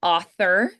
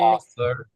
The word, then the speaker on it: author: M now some nouns author unvoiced author author author and then author it like I feel like the instinct is to make it voiced because for something like mother father brother those are all people right so I feel like the Instinct would be to make it voiced but it's unvoiced there author author method method